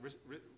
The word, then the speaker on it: Ristar: Rystar or So- Ristar or So Restar. I've worked out, in Japan, this is pronounced Rista, Rista.